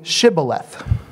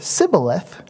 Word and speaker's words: Shibboleth: If he said no, they would say to him, "Now say Shibboleth." But he said Sibboleth, for he could not pronounce it correctly.